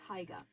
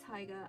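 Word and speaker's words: Haigha: His name is Haiga. He pronounces so as to rhyme with mayor."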